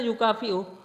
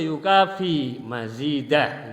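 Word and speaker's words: يُكَافِئْ: Memang asalnya yukafi'uh. Kafa yukafi'uh gitu. Jadi di sini bacanya yang betul bagaimana? Hamda yuafi ni'amahu wa yukafi mazidah gitu, yang betul, bukan wa yukafi'u.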